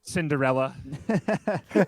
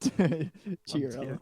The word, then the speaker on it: Chiarello: Cinderella. Chia pet. Chiarella. He's heard it all. Chiarella, yeah, it's like Chia Pets.